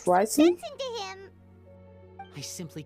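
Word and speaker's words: Wriothesley: ricey hey don't be the way you pronounce his name is ricey listen to him I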